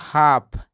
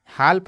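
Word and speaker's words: half: दोस्तो कुड और यहां देखिए इसको पढ़ते हैं हाफ हाल्फ नहीं पढ़ेंगे इसको हाफ पढ़ेंगे इसको वक पढ़ते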